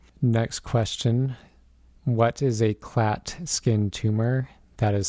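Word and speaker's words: Klatskin: a future question next question what is a clat skin tumor that is spelled k-l-a-t-s-k-i-n what is a clat skin tumor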